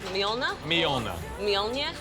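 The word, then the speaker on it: Mjølner: safely say you're at myonna and how am i pronouncing that uh basically swapped the j with an eye myonna myona yep nailed it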